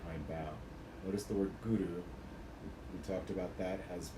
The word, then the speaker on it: guru: guru we pronounce it using the tip of the tongue to the roof of the mouth and it's a little bit of a rolled r there you want to